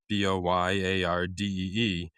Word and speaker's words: Boyardee: In 1928, Boiardi and his brothers launched their canned pasta company, deliberately misspelling the name as Boiardi, Boyardee, so Americans could pronounce it correctly.